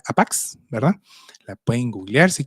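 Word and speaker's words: ἅπαξ: es una palabra en griego eh que se pronuncia APAX, ¿verdad?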